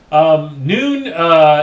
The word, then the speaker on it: Nuun: So what I want to talk about at this point is noon. Yeah, noon. It's lunchtime. I'll see you guys later. All right, I'm just kidding. Noon is that's how it's pronounced.